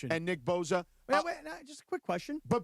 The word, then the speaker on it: Bosa: I'm a Bosa guy. You're a Boza guy. It's Boza. It's pronounced with a Z.